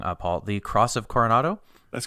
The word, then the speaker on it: Cross of Coronado: unfortunately is the uh and sorry if i pronounce this wrong uh paul the cross of coronado that's correct that's cool oh this is very